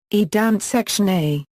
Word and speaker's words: Danzig: The German name, Danzig, is pronounced as, Danzig.